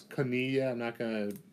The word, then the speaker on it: koinonia: In the Greek, that Greek term, it's koinonia. I guess I can spell it for you for those of you taking notes.